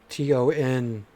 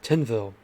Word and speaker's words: Tinville: I didn't realize that his name was Tonville. Like Tonville. Because it's spelled T-I-N. I thought it was Tinville, but it's Tonville.